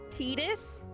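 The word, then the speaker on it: Tidus: This game also taught me the correct pronunciations for Tetus and for Yuthi. I can't believe his name's not Titus.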